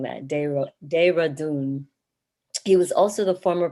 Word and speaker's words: Dehradun: I'm so sorry for mispronouncing that. Dehradun.